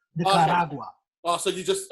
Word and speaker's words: Nicaragua: It's Nicaragua. You roll your R's like when you speak Tereo. Nicaragua.